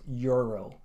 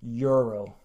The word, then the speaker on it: euro: list is euro and this this is a very easy mistake to understand because when you have the word in your own language you kind of say it in that way but in English the word is euro so one more time euro the next word on